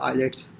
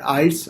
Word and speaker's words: IELTS: Disappointment होती है कि even people having like post graduate degrees they are pronouncing this thing as आइलेट्स। सो ये please उसको pronounce correct किया करें आप। ये वर्ड है आइल्स और आइल्स एब्रीविएशन है international English language testing system.